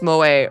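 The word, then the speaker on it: 萌え: That word is pronounced moe.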